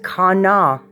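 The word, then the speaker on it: qana: is pronounced Kana spelled Q a n a pronounced Kana k-a-w-n-a-w Kana is also the name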